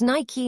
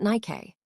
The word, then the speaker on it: Nike: NY, named after the Greek goddess of victory, Nike. But millions of people say NK, influenced by English spelling patterns like bike or hike. The brand tried to correct it with ads. It's Nike, not Nike.